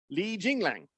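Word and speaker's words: Li Jingliang: Li Jinglang. That's how you say it.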